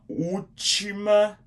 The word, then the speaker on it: última: A space U, same thing up here on the top of this letter U here. There's an accent. It's the same thing with that one up there. Makes it more like an open U sound.